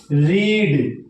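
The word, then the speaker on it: read: यू [गला साफ़ करने की आवाज़] के लिए plural have you रीड। रीड रेड रेड बोला अलग जाता है।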